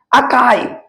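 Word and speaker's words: archive: अकाइव थोड़ा अजीब टाइप का pronunciation A आर सी एच आई वी ई अकाइव कहां क्या चीज तो बुआ ऐसा जगह जहां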